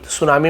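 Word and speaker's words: tsunami: ward out इन सुनामी सुनामी में T silent होता है टी सुनामी सुनामी टी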